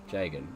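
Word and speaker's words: Jagen: It's J-A-G-E-N. Jagan. It's part of the problem with some of these names that they're not even spelled right in here.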